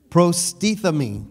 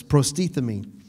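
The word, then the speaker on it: προστίθημι: Prostethemi, that's what it is, prostethemi.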